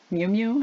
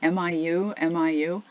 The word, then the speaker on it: Miu Miu: heard of it before the name is Miu Miu and that is how you pronounce it mi u mi you they were very strange-looking